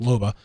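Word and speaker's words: Loba: a lob MOBA baba anova i would be pronounced Luba her abilities include tactical which allows you to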